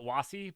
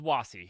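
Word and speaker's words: WASI: brought up uh wash I call it wassi but I don't know how other people pronounce it and uh yeah I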